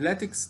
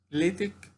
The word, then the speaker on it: LaTeX: طيب لاتكس ده جاي منين؟ بيقول لك بينطق يا اما لاتك يا اما لاتك، ليتك يا اما لاتك، يعني يا بالكسر يا بالفتحة، ليتك أو لاتك.